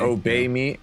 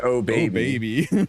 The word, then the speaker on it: Obey me: The worst pronunciation probably in the game is pronouncing obey me. Obey me as oh baby.